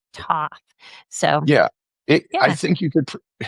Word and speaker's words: Thoth: But I think the idea is to pronounce it as like theta, TH. Right. TH. So Thoth, I think, is probably the safer pronunciation.